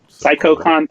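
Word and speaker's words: SaikouCon: How do I pronounce this? PsychoCon, that's it. But it's spelled SAIKOU. This is the one that's all about the Psycho movies.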